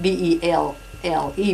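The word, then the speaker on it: Belle: But we spelled it B-E-L-L-E, but we pronounced it Bell.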